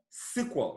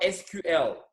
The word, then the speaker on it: SQL: right so this program this is called sequel right I want you guys to get used to this this is not SQL as you are used